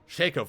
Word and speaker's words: Shaco: want to say it Shaco for sure although some support yes yeah but people say it's Chaco they're just not saying it right like can we be